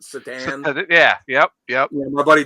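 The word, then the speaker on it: Šatan: His last name was it's spelled Satan, but he pronounced it Satan.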